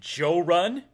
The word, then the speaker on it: Jorrly: he finds my channel, he'll pronounce it Joe Run because I've had some friends from different parts of the South call me Joe Run, which is cool.